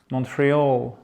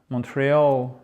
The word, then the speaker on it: Montreal: Montreal, accent tonique, là c'est un peu spécifique, c'est sur la fin. Montreal. Montreal.